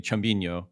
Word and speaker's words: Chumbinho: Um, Chumbo and I'm going to screw up the pronunciation, but maybe you can correct me. Chumbinho. Is that, Yeah, I'd say you nailed it.